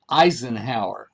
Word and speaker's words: Eisenhower: about Richard's last name, Eisenhower. Well, it's pronounced and spelled the same as our former president, Dwight Eisenhower.